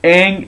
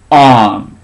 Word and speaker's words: Aang: In the movie, Aang is pronounced Aang.